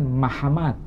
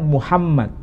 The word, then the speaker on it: Muhammad: Apa bahasa Suryani karena dalam bahasa Suryani menyebutkan mahamad mahamad Kalau bahasa Yunani menyebutnya mamed bahasa Suryani menyebutkan mahamad bahasa Arabnya menyebutkan Muhammad Apakah ini merujuk pada